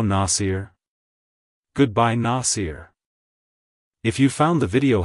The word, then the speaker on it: Nasir: supporter it's pronounced as Nasir Nasir Nasir to pronounce it correctly emphasize the first syllable n ah and then smoothly transition into the second syllable SE like Hello nasier Goodbye Nasir if you found the